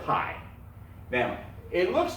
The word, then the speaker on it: pi: them stand for a thing a number called pi now so it's pronounced pi right now here's what they found out some